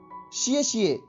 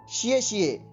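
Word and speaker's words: 谢谢: वो कुछ चाइनीज़ में इस प्रकार से बोलेगा शिए शिए शिए शिए शिए शिए। शिए शिए का अर्थ होता है धन्यवाद। इसकी स्पेलिंग होती है XIE।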